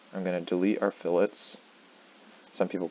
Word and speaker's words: fillet: delete our chamfers I'm going to delete our fillets some people call it filet but it's pronounced fillet make sure you call it fillet you might